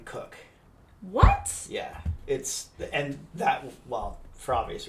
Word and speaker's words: Koch: I believe he pronounces his name Cook.